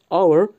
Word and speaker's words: hour: يعني لماذا بالرغم من أن كلمة hour أول حرف منها هو h ولكن أول حرف يسمع هو أو الحرف المتحرك أو لأن حرف H هو حرف صامت silent فلا ينطق فنستعمل the articles مع